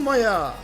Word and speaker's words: Meyer: oynuyor kimmiş Kimmiş bu Maya meyer yazılıyor ama maya okunuyor E bunların hepsini bunların